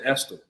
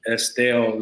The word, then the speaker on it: Estill: people from Estill because we pronounce it Esther everyone else is a different way Estelle is mostly what most people say but it's e-s-t-i-l-l South